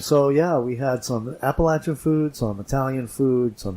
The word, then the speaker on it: Appalachian: Now, in other parts of the country, they pronounce that Appalachian or Appalachian even, but here they pronounce it Appalachian, and so that's the proper way to pronounce it.